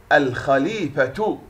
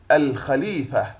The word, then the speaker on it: الخليفة: الخليفة، الخليفة.